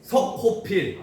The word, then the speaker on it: 석호필: 스코필드 한국식. 스코필드. 그 발음 그대로. 스코필. 비슷해. 석고필. 석호필. 아. 석호필 씨로 됩니다.